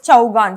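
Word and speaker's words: chaugan: is chow gang game okay so can you pronounce this chau gan c h e u g h a n chow gun game okay so that is an indian polo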